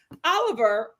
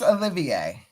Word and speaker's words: Olivier: The first thing that I wanted to talk about with uh you guys is Oliver.